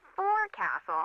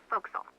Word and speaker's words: forecastle: ship, but it's pronounced forecastle. Why's that? Try pronouncing it like an English sailor with no formal education.